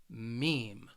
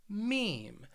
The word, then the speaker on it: meme: with the internet but this word it just has one syllable meme meme and what it is